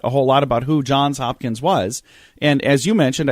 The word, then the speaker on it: Johns Hopkins: whole lot about who Johns Hopkins was and as you mentioned I think a lot of people probably have pronounced it the way I have without the S on John's and I wonder why